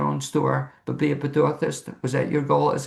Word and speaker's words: Pedorthist: He's also, correct me if I have the pronunciation right, a Pedorthist.